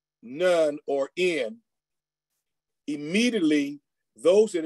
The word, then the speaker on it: Nun: at the beginning of that is the word N-U-N. And you probably would pronounce it the way they wanted you to pronounce it correctly, which is nun or none.